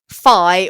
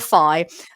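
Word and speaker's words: phi: Uh, and he's talking about the number fi or I think, you know, in in America perhaps it's pronounced fee. So fee or fi uh but not faux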